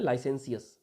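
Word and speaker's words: licentious: Next word है लाइसेंसियस, है ना, इसका प्रोनाउंसिएशन ध्यान रखना, इसका प्रोनाउंसिएशन है लाइसेंसियस।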